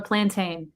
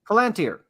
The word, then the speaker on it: Palantir: I mean, even I always say it wrong, so I'm going to call it a plantain. The Palantir.